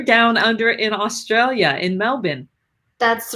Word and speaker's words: Melbourne: that I love because I'm still trained to pronounce it like an Australian Melbourne and you're like Mel born and so welcome to